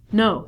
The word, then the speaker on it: know: o3 reduce this to No so not only the beginning letter K is silent but W is also silent so instead of saying canal or Kino wah-wah-wah we just say no we use this like